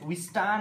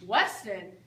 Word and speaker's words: Weston: Next, we Stan and Mar Y. You mean Mary? You mean Weston? We Stan. Weston. We Stan. Weston. We Stan. It's Weston. Say it right.